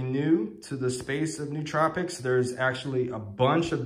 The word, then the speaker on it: nootropics: and the way that you actually pronounce it is nootropics that just looked it up and oh like mmm who put the two O's being oh so not know tropics but nootropics welcome guys depending on the